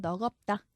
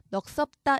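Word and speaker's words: 넋없다: 그 다음에 이제 다음 음절로 옮겨서 발음하면 넉없다. 요렇게 해줘야 됩니다. 넉섭다 이렇게 하면 틀린 발음이죠.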